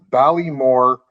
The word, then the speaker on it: Baile-Mor: So the pronunciation is Baile-Mor de Lanark.